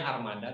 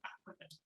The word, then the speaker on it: Armada: Tulisannya Armada tapi dibacanya Ahmada.